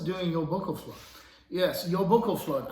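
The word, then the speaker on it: Jólabókaflóð: your buckle fluff yes yo boko flood i believe that's how you're supposed to pronounce it but you know it's icelandic local flood is a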